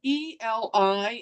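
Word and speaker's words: עלי: It's spelled Eli in our English text, but in the Hebrew, it's pronounced Eli.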